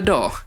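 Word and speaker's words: DAW: Now look at a D.A.W (pronounced as door without the "r").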